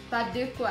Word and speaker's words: Pas de quoi: Pas de quoi. Pas. Pas. Pas. Pas. De. De. De. De. De. De. So you're saying E through lips. Okay. De. De. There you go. Pas de quoi.